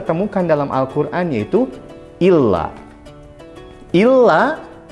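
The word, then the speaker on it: إلا: Illa yaitu terdiri dari hamzah dan lam alif. Di atas huruf lamnya ada tasydid. Maka illa yang ada tasydidnya mempunyai arti kecuali. Ingat, illa yaitu kecuali.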